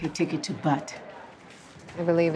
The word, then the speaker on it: Butte: I'd like a ticket to Butte. I believe it's pronounced Butte.